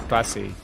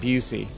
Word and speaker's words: bussy: just say bussy and i confirmed it's bussy not busy right so but i